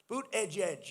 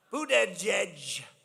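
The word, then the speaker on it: Buttigieg: Boot, edge, edge. You say boot, and then you go edge, edge.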